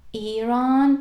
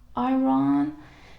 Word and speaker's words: Iran: So if a word, say Iran, which starts with E sound, yes, the right pronunciation is Iran, but not Iran. So Iran, which is E.